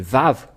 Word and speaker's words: vav: nous voyons cela euh nous voyons bien que c'est vav la vraie prononciation mais pas W c'est bien un vave